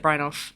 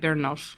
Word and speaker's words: Brynolf: Definitely don't pronounce it Brynolf outside of these shores. It's like Brynolf or something. Yeah, so like the way it's been anglicised is so that it's OLF, and I think it would have been ULF.